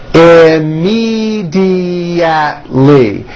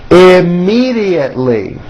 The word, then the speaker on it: immediately: Immediately has 5 syllables. Immediately. Immediately.